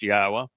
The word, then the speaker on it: Yahweh: is, why we know that his name is pronounced Yahwa, um, and what he's offering through his bar